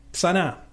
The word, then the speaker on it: Sanaa: Sana, así se pronuncia, ¿no?